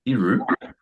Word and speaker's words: Iru: Echo and it's been performed by iru and that's how her three letter name is pronounced and to leave this